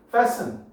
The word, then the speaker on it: fasten: 이거 대부분 다 fasten이라고 바로 봤는데 T 묵음이야. fasten.